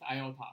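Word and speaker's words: ι: And here, these symbols is pronounced as iota.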